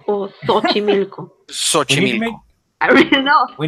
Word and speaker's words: Xochimilco: The thing is the X at the start. Xochimilco or Xochimilco?